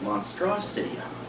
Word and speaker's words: Monster City High: High come from um we like to pronounce it monstrosity High monstrosity High okay monstrosity